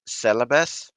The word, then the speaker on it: Celebes: another um cruiser name from indonesia which is celebs which is also um sulawesi and that's the